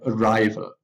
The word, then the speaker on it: arrival: have the suffix other you have arrival stress is still on the second table rival denial denial